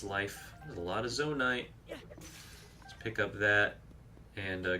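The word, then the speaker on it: Zonaite: oh, we got some Zonite, first Zonite, which I think my dad pronounces it Zonanite. You know, to each their own.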